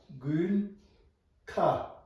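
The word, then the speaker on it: དགུན་ཁ: Ga, shabchu, gu, na, gun, ka.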